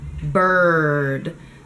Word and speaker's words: bird: black where it's BER bird you need to close the back with your tongue and bite down on the sides the tongue is down BRR BRR bird and there you have